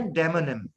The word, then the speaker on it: demonym: ये है डेमोनिम। प्रोनाउंसिएशन इसका क्या है? डेमोनिम।